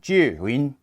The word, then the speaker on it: Zhiyun: be upfront I love Julie and that's how you say it in Chinese at least my American tongue says Chinese words that way the first word jew' means wisdom win is cloud in Chinese so there you go